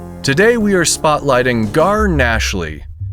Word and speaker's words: Gnashley: Today we are spotlighting Gar Nashley. Nashley spelled with a G at the start.